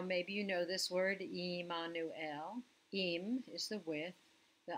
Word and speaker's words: Immanuel: Now, maybe you know this word, Immanuel. Im is the with. The anu part is us. And el is el. So we say his name was Emmanuel, God with us.